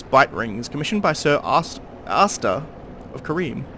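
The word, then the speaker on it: Arstor: One of the infamous bite rings commissioned by Sir Asta of Kareem. Or Astor? Asta. It's a weird pronunciation. A-R-S-T-O-R. Astor, I guess.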